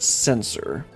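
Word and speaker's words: censer: Okay, it's actually pronounced sensor.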